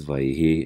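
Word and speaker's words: וַיְהִי: so uh in general everybody's always read it as vayihi and there are also very ancient texts that testify to that pronunciation there is a system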